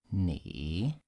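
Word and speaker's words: 你: looking look at this is falling rising so the tongue is falling and rising knee knee okay and you good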